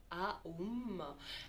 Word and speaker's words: Om: Donc le OM, on va dire ça comme ça, se prononce donc Aum, et quand on le